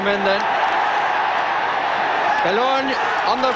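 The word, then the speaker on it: Bellone: And with his wrong foot, really, Belloni, to give him his correct pronunciation, struck it well, but too high.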